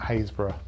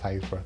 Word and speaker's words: Happisburgh: Number 2 is the Lighthouse at Haysborough. It's spelt Happisburgh, but pronounced Haysborough, don't ask me why.